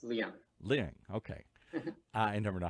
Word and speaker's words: Liang: and do I say Ling? Yes, Liang.